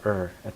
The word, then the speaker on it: or: just dot dot dot 'er'at the end. Okay? So 'or' is pronounced 'er' and we use it to join things together, we use it to cut sentences in half, and we do this every conversation.